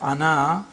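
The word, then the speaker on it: أنا: This means that the alif is not pronounced in continuous reading, but it is to be pronounced in the pausal form.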